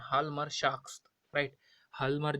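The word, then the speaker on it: Hjalmar: अब देखिए ये जो क्या नाम है इनका नाम है हाल्मर शाख्स, राइट। हाल्मर जो शाख्स है, जे को भूल जाइए, आपको हाल्मरशाफ्ट लिखना तो HJALMR ही होगा, बट प्रोनाउंस इस तरीके से करना होगा, हाल्मरशाफ्ट।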